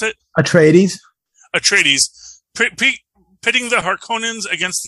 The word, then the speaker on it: Atreides: political standpoint pitting the harkonnens against the uh arrest deeds atreides okay sorry how do you pronounce it atreides atreides pitting the harkonnens against the atreides makes